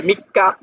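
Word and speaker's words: 三日: এই দেখেন এটা ছোট করে আছে, তাহলে কাটা দুইবার উচ্চারণ হবে, মিক্কা, মিক্কা মানে 3 তারিখ।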